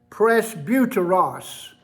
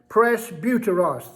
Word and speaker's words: presbuteros: the names and their significance number one is presbuteros presbuteros p r e s b u t e r o s i'll spell it again it's important that you get that press buteros that's the uh greek name for the one